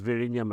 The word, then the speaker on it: Vizhinjam: about this port coming up in Kerala called Vizhinjam. It's difficult for non-Malayali to pronounce it. ZH. It's written with a J, but it's Vizhinjam actually.